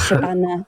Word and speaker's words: Shabana: So I think, based on what Shabnab was saying about, if I said that right. It's Shabana, no. I only said that because you just said that. My name wrong. My name's Shabana.